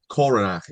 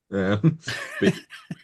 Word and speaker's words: Coronach: So, Coronac is fine. Cor. It's got the ch like the the kind of sound at the end like silent. Coronac. Coronac, you know.